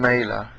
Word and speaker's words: Mailer: Norman Mailer rhymes with Naylor, would later write in his biography, Marilyn.